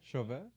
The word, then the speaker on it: Chauvet: Chauvet.